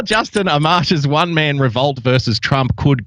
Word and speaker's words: Amash: Not Amish, or you will have a bunch of people from Pennsylvania with pitchforks coming after you. It's definitely That's all right. Amash.